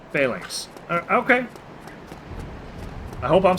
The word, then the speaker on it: phalanx: Google pronunciation says you're correct. Phalanx.